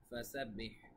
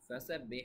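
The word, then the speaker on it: فَسَبِّحْ: করুন নিশ্চয়ই তিনি ক্ষমাকারী ফাসাব্বিহ ফাসাব্বিহ এখানে হ্যাঁ এখন আমরা বলছি কোথায় কোথায় আপনারা উচ্চারণ গুলো খেয়াল রাখবেন দেখুন ফাসাব্বিহ এখানে হা এর উচ্চারণটা ঠিক থাকবে বিহামদি এখানে হা এর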